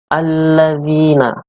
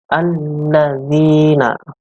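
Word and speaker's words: الذين: Ini adalah bacaan alif lam syamsiyah, karena di sini ada huruf alif lam yang bertemu dengan huruf syamsiyah, yaitu lam. Syamsiyah ini bisa ditandai dengan adanya tasydid di atasnya. Membacanya itu memasukkan atau mengidghamkan ke huruf syamsiyah, yaitu lam. Jadi membacanya adalah alladzina.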